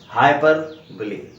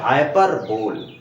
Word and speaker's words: hyperbole: इसको बोल देते हैं हाइपरबोल। लेकिन इसका सही उच्चारण हाइपरबोल नहीं है बच्चों, इसको ध्यान रखिएगा दोस्तों। इसका करेक्ट प्रोनाउंसिएशन है हाइपरबोली, जो कि ग्रीक, एंशिएंट ग्रीक ओरिजिन का एक वर्ड्स हैं, दो वर्ड्स जिनका यूनियन